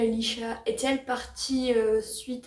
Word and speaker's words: Laoise: Ils ont une fille qui s'appelle Leisha. Ça s'écrit Laoise, d'accord?